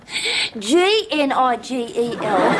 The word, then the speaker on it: Gnigel: Nigel, spelt with two G's. N-I-double-G-E-L? No. G-N-I-G-E-L.